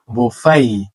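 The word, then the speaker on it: buffet: কিছু প্রথম সেটা হলো জেইবিউ জাইবিউ আমরা বলি বাফেট কিংবা বুফেট this one is actually বোফাই বোফাই আকামি আকামি আলাও আমরা বলি এলাও আলাও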